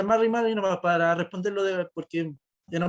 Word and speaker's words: Mari Mari: Eso, Mari Mari, eso. se pronuncia Mari Mari, nomás para responderlo, porque era muy acotada la pregunta, sí.